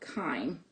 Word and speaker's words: chyme: to as chyme, which it's pronounced just like the herb thyme. So it's called chyme. So so you don't write that down. But you have chyme that enters into the duodenum.